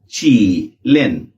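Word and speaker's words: 吉林: सो ये हो गया ची लिन। क्योंकि जे की साउंड जे एस इन जार नहीं है। सी एच है या च है। तो ये बनेगा चीन। चीलन।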